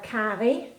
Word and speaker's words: karry: 1, 2, and I would say about 3 good teaspoons of curry, or karry, as it's pronounced in Danish.